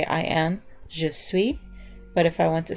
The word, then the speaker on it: je suis: or she is and even though there's an S at the end you don't really pronounce the consonant at the end so you kind of just say just sweet but if you are